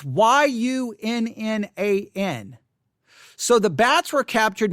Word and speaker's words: Yunnan: The Yunnan or Wunan, maybe it's Wunan. It's Yunnan.